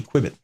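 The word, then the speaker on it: Qbit: So I'm going to do, and it's spelled Q-B-I-T, Quibit.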